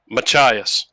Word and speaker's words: Machias: Machias.